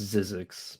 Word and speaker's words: Zyzzyx: I think it's pronounced Zizix, but Zizix Road.